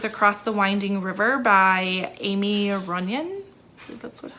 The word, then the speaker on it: Aimie Runyan: talk about is across the winding river by amy runyan that's how you pronounce it so we have our main character